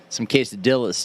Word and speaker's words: quesadilla: Well, I mean, I really love some quesadillas too with the jalapenos. That's pronounced quesadilla. Whatever. I mean, everybody has their own version of it. It depends on what region you're from.